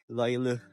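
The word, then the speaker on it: Löyly: Which is yung Loilu daw yung pronunciation.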